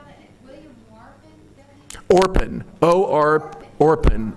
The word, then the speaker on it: Orpen: How did you spell that? William Warpen? Orpen, O-R-P-E-N, Orpen.